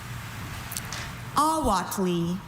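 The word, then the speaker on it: ahuatle: Awatli. May I have the definition? Awatli means water insect eggs dried and used as food in Mexico. Awatli. Can I have all the information? Awatli is the only pronunciation.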